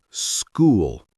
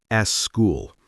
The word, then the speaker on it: school: The word school is school, not s school. There is no e sound at the beginning.